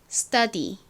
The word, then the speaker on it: study: 할 것이 하나 있는데요 t가 s의 뒤에 나오게 되면 트 발음이 아니라 조금 센 뜻 뜻 발음이납니다 그래서 스터가 아니라 스톱 스톱 스터디 스터디 이렇게 발음이 됩니다 티긑이 아니라 거의 쌍디귿에